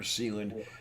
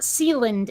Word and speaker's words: Sealand: of the recognition for sealand then it happens before the support stop stop stop i asked them it is not sealant it is literally sea land i'm fine uh i